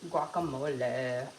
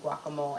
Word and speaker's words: guacamole: She should say the E on the guacamole. So now I almost feel like I always have to order it and say guacamole. And she doesn't even realize she's saying it wrong.